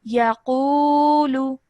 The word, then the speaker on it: يقول: Okay, just one thing over here, I highlighted this because you didn't pronounce the waw madda. So waw madda means elongation of 2 seconds, so this would be yaqulu.